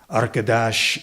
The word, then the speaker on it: Arkadaş: Arkadaş is a roomier word, an atrium of rich sounds, the last syllable lingering in a shh that extends the life of the utterance, delaying the silence to follow.